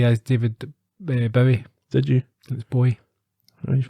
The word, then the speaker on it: Bowie: I pronounced uh David Bowie as David Bowie did you that's boy he's probably upset millions of people yeah no you can tell by it's by Boy not very because it rhymes with Zoe yeah yeah what did